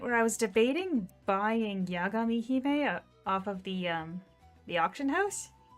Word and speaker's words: Yagami Hime: So, like, when they released Hachijo Hime, who should be named Yagami Hime, that's the way it's supposed to be pronounced, is Yagami Hime.